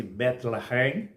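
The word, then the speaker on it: בית לחם: viviam em Belém que em hebraico pronuncia-se betlehem que significa casa de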